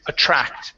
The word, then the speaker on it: attract: Yeah, that last word is attract. The stress is on the end.